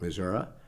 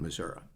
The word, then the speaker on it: Missouri: That's the way I was brought up, and the people around me called it Missouri, and it always seemed more comfortable to me to call it Missouri.